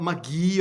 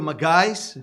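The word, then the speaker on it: magi: Lo encontramos en el capítulo 2 de Mateo, y dicen que eran magí o magais, según cómo lo pronunciáis.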